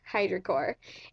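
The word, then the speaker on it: Hydrocor: spelt H eye dr o SI o are Hydra core and I get mines in the color Mel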